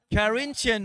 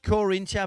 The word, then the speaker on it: Carinthia: of Austria, in the Carinthian region. I think that's what it's called. Kinton. Oh, I see. Hey. How do you say in English though? Carinthia. So not Corinthia, but Carinthia. Carinthia.